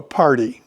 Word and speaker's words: party: You go to a party. It sounds like it's spelled with a D. No. Party. Pretty and water.